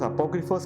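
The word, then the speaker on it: apókryphos: Vamos a entrar a lo que es libros apócrifos. ¿Qué significa la palabra apócrifo? Amén. Apócrifo viene del griego, una palabra que se pronuncia apócrifos, así prácticamente casi igual. Nada más agréguele la s.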